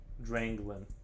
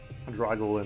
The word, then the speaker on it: Dranglin: Dranglin. Dranglin. I think I'm saying it right. Dranglin. I kept saying drag or Drago. Dragolin or something, and then I realized I was reading it wrong.